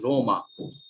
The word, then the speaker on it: Roma: or to use the uh no the italian pronunciation of rome that is roma or venezia venice is venezia in italian and